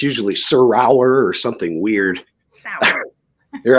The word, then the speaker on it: Serour: Sour.